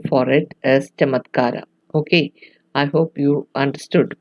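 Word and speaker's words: चमत्कार: So it is pronounced as chamatkara and not kamatkara. So a C is pronounced as ch, and you'll find that difference with the Sanskrit words.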